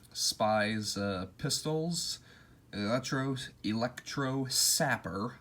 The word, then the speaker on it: sapper: uh pistols electro electro sapper i always pronounce it zapper when it's sapper and then his uh